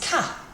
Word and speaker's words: K: K in French is Ka. Ka. Think of that little Ford Ka that we used to see everywhere. Ka. Ka is how I pronounce it.